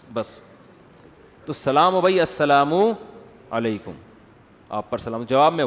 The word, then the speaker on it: السلام علیکم: السلام علیکم اور صلی اللہ علیہ وسلم کا صحیح تلفظ بتا دیں. السلام علیکم کا ہے السلام علیکم, جو آج کل لوگوں